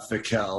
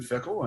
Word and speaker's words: Fickell: be on the record is your last name pronounced fickle is it pronounced somewhat differently than what everybody thinks no i'm not french and it's not fakel or anything like that uh ever since i've been a kid it's been fickle and uh you know obviously